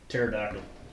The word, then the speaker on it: pterodactyl: Pterodactyl. Silent P P. right there at the beginning, yeah.